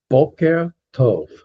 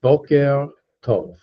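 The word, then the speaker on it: בוקר טוב: Okay, good morning is boker tov. There's another R in there. Boker tov. Let's try it together.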